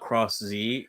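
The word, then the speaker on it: Cross-Z: I hate that about cross Z that it's just it's technically supposed to be just pronounced cross I hate it yeah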